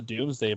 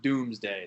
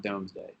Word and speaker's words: Domesday: England comes from the Doomsday Book because that's just how they associated it with yeah you see the name it looks like the Domesday book it's pronounced doomsday so we see it